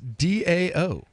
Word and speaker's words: DAO: Digix DAO. Digix DAO. Like Tao, like the Tao Te Ching, Taoism, the religion. Well, actually, that's spelled with a T, but yes.